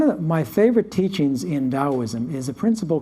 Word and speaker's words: Taoism: know is chinese right chinese pronounce the t like a d taoism taoism is based upon the